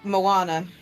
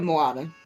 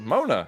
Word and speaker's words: Moana: N A oh yeah I kept saying it wrong cuz I was like Mona everybody like what no